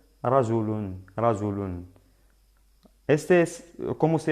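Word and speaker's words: رجلٌ: La pronunciación de doble damma sería rajulun.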